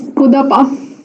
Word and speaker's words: Kudapa: How do you pronounce? It's Kudapa.